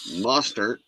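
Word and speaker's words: Mostert: Jets Jeff Wilson Dolphins resigned two years Raheem muster yeah that's how you say it Dolphins resigned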